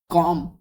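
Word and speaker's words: comb: सा इन जी साइलेंट है sorry sine में जी साइलेंट है वॉक वॉक में एल साइलेंट है ना कॉम कॉम में बी साइलेंट है आवर में एच साइलेंट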